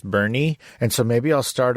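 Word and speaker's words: Boerne: san antonio it's called bernie it's spelled b-o-e-r-n it's a german word but it's pronounced bernie and so maybe i'll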